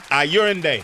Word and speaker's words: Ayorinde: Ayorinde. Yes. Ayorinde. No? Ayorinde. Yes. Ayorinde. I told you, I Olayinka. got you. Ayorinde. That's it. Say my name in with the accent.